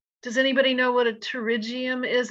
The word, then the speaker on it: pterygium: anybody know what a pterygium is it starts with a p it's a silent p p t it's a growth of